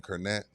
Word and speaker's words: Kornet: Cornette. Luke Cornet. The green cornet. Yeah. He says, "I've been disrespectful. We're going to love him." Except that's not how you pronounce cornet.